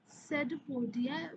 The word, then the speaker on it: pseudopodia: So here you can see that these are the finger-like projections and these are called pseudopodia where the P is silent.